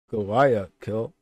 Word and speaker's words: Guayaquil: from Quito, Ecuador for a domestic flight to Guayaquil. How do you pronounce that? Guayaquil.